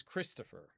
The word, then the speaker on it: Christopher: Think about how the O is pronounced in regular speech. You know, regular uh you know, speech at regular speed. And how is the E pronounced, Christopher? Both the O and the E reduce. They become reduced vowels. And that's kind of what the schwa is. It represents vowel reduction.